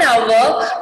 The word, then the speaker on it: hour: Here we are, the H completely silent.